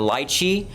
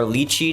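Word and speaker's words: lychee: We got the lychi or luchi depending on how how you say it.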